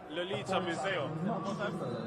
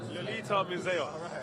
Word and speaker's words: Lolita Muzeya: Lolita Muzeya. Lolita Muzeya. Yeah. See, I've done my pronunciation.